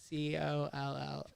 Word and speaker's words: CollXab: Because I know the X is silent. CollXab.